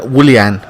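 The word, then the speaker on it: Willian: Luiz Rudy ager and Willie Anne okay I've been having a lot of flack from people saying it's not William it's Willie Anne alright whatever it just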